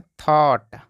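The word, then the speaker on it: thought: और इसको पढ़ते हैं थॉट थॉट का मतलब होता है सोच अब यहां देखिए जी एच यहां पे साइलेंट है अब इसके नियम को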